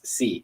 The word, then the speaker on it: Xi: me she said she said uh see it's c because i was saying g because it's like